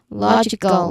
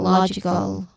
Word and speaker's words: logical: Logical. Logical. That's on law. I'm sorry. L not I know the suffix all.